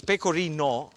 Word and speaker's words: pecorino: Just be careful the way you pronounce it because pecorino with an o is the cheese. If you put an a at the end and you call it pecorina that means um get closer.